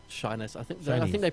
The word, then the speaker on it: Shiness: It's Shiness. I think Shinies. they pronounced it as Shiness in the Shiny.